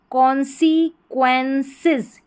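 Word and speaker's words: consequences: तो यहाँ पर सिज, सिज ज साउंड आएगा, सिस नहीं बोलेंगे, सिज, क्योंकि एस से पहले मैंने बताया ई है। तो पूरी स्पेलिंग क्या बन जाएगी, कॉन्सी, CONSE, कॉन्सीक्वेंसेस, QUEN क्वेन, और CES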